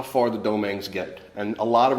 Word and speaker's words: Domingue: Dominguez, or Domingue, or Domingue, it's all referencing to the same name. But in the islands, it's actually pronounced, it would have been pronounced Domingue.